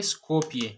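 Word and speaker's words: Skopje: अच्छा, शी was born on August 26, 1910 एन स्कोपिये, इसको हम प्रोनाउंस करेंगे स्कोपिये, मैसेडोनिया।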